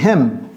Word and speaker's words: hymn: hymne en anglais c'est hem hem ne prononcez pas ne prononcez pas le N ne dites pas h